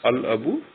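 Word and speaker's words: الأب: this word it becomes al abu, that means the father. Al is written completely and it is pronounced completely.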